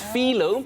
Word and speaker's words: phyllo: It's phyllo, because apparently that's how the Greeks pronounce it, and everything started in Greece.